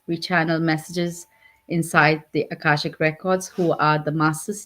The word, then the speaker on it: Akashic: Um, and I'm gonna mess up the pronunciation. Akashic? Akashic.